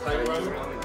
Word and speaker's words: Kyuramen: Kyuramen.